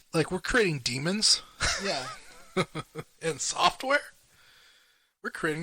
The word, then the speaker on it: Daemon: Daemon pronunciation. Demon! No! It's demon! It's demon! No!